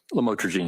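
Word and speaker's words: lamotrigine: about the u the lam otherwise known as lamatroine. Did I pronounce that right? Lamotraine.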